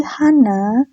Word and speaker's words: 한: Bukan Hana, tapi dia nyebutnya Han, cuman Han aja.